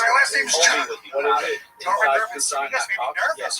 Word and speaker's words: Rubenstein: Yeah, I'm Rubenstein. People mispronounce it all the time, too.